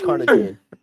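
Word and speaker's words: carnitine: I'm bad at saying things no it is cartine that's how you say it cartine did I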